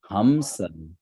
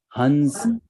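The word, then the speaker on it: हंस: There is a dot above M. So will this be pronounced as Ma? Sir. Will it be pronounced as Ma? Sir. Yeah, it won't be pronounced. You are pronouncing it correctly. It will not be pronounced it as Ma. If you pronounce it as Ma, it will become Hamsa. Hamsa. But this is Hamsa. It is Hansa.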